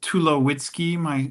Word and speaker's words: Tulowitzki: my name is Tulowitzki. My surname, sometimes people mispronounce it. And so I have a little mnemonic I like to share that if you take away my wits, I'd be too low key.